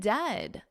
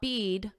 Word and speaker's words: dead: And dead, it's said like bed, not bead. For goodness sakes, don't call it deed.